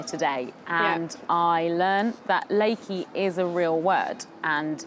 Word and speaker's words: LAKY: name it was like la KY pronounced Leakey and I'd already for